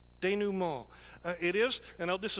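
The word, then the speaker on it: denouement: word that we learned is this one it's pronounced de new mall de new mall it is and now this is the dictionary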